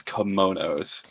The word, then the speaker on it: kimono: To be fair, this kind of was Char's call on getting uh pretty much these kimonos. It's how awkwardly you pronounce that word.